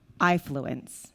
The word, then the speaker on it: AIfluence: excuse me development at ifluence so that's how we pronounce it like your eye i fluence um and basically this